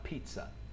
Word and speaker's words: pizza: Tengo una profesora que me mantiene azotado porque yo pronuncio mal pizza. Es pizza, como con una I grande.